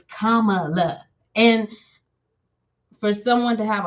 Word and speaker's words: Kamala: couple months ago like I kept on saying Kamala mom was like my mother kept on saying no it's Kamala and for someone to have a hard name